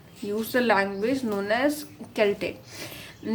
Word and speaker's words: Celtic: So, these native people spoke Celtic which is written as c e l t i c but it is is spoken as k e l t i c. This is why I'm I'm pronouncing the word as Celtic because it starts from k e l t i c.